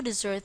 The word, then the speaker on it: desert: the pronunciation is different it is now pronounced the same as dessert if you've noticed the